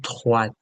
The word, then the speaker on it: droite: À droite. There's an E here, so we say the T.